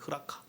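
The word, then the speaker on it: ῥακά: 흐라카. 이게 한글로 발음이 라가라고 발음이 되는 거죠.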